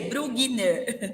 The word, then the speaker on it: Brugner: Para quem tá ouvindo, com 2 E's e Y, Brugner com um G mudo ali no final, no meio do Brugner, Como tá? se lê? Se escreve como se lê. Brugner.